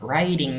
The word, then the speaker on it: writing: Ada writing stories. Ini W-nya tidak dibaca, ini L-nya tidak dibaca. Istilahnya dalam pelajaran pronunciation itu silent letters, ada huruf-huruf yang tidak dibaca.